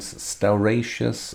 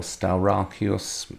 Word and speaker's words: Stauracius: Patriarch of Constantinople, and Stauratius, or Stauracius, however you wish to pronounce it.